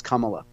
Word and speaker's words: Kamala: ways and tell me is it comma is that the prop proper pronunciation she likes is it kamla it's actually it's actually I I texted Willie Brown and he said it's kamla that's just what Willie